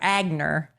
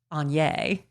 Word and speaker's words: Aigner: mall and asked for Aigner. They didn't know what I was talking about. Apparently it's pronounced Anya.